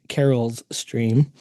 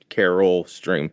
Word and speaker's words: Carol Stream: Or as you pronounced it, Carol's stream. Oh, so it's okay. So that's that was the bit. Okay. So it's just it's Carol stream, but it it's funnier when it's Carol's stream and it's or PB, but that's No.